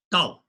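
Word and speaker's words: 道: Dao, that's Chinese character, the way. And in Japan, this Dao pronounce it as Do.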